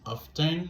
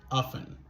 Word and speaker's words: often: Il est capable de prononcer de deux manières. Majorité natif yo éliminé son T. Yo pas dit often, yo dit often. Mais ici, Michelle Obama, il prononce T. Il dit he often. He often could OK? Son T a sorti là. Donc ça veut dire, on est capable de prononcer mot ça de deux manières. On est capable de dire often ou bien often. Couldn't.